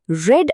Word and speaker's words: read: I read a book yesterday. Spelling 2க்கும் ஒன்னு தான். ஆனா நம்ம ப்ரொனவுன்ஸ் பண்ணும்போது பாஸ்ட் டென்ஸ்க்கு ரெட்னு சொல்லணும். I read a book.